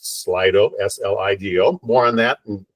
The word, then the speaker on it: Slido: We'll have time for Q&A within that, and we're using a new Q&A technology feature today, something called, I think it's pronounced Slido, S-L-I-D-O.